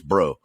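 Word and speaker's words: Breaux: this but the cunas term it's b-r-e-a-u-x it's bro so that's the way that's the reason it's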